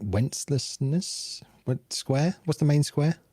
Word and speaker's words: Wenceslas: going to pronounce this wrong, but it's like Wenceslas Square. What's the main square? Wenceslas Square. That one. Yeah, you pronounce it better, obviously.